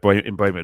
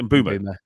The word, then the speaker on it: Mbeumo: Probably did because he had Mbeumo there, or Mbeumo. I'm never sure how to pronounce his name. Is it Mbeumo?